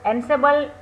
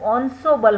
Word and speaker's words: ensemble: ensemble जो उसका pronounce होता है वो ensemble होता है.